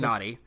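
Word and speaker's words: Nnadi: He has 2 N's, N-N-A-D-I. So it is pronounced Nadi.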